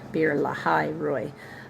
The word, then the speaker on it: Beer-lahai-roi: Beer-lahai-roi. Uh beer as in like b e r, like beer.